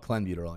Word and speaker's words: clenbuterol: It's not trenbuterol. It's called clenbuterol.